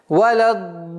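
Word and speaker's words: وَلَا الضَّالِّينَ: Это правило, которое гласит, если в одном слове после удлинительного звука встречается удвоенный знак, нужно в размере 6 огласовок обязательно удлинять. И она звучит таким образом. Валяддаллин. И в конце удлинения тильды нужен такой маленький тембр, чтобы слышащий знал, что после удлинительного звука существует удвоенный знак. Итак, валяддаллин.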